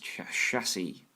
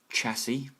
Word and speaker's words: chassis: or if you're American, chassis, because apparently CH has to be pronounced ch. Chassis is 22% and £4,477. The reason that we pronounce it chassis is it's a French word.